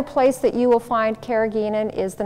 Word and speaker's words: carrageenan: Carrageenan, also some people pronounce it carrageenan.